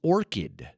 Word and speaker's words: orchid: very nice orid yes well it's got the CH but it's a solid C Sound and that could be confusing for some I didn't sometimes Nate